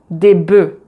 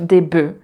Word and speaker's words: bœufs: règle pour un bœuf, des bœufs. Donc là aussi, la prononciation change et on ne prononce pas le F. Donc un œuf, des œufs, un bœuf, des bœufs.